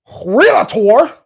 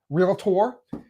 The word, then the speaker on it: realtor: Now if I was a licensed realator did I say it right? realtor.